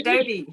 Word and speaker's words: Doby: are you hello Dr du it's a pleasure to be here you always get my name wrong it's Dr Doby so long I've been